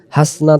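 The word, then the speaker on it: حَسَنَةً: হাসনা তাও পড়লে এখানে ভুল হয়ে যাবে। আখিরাতে বলি, এখানে আ এ গালিব। হাসনা তাও না, হাসানা তাও।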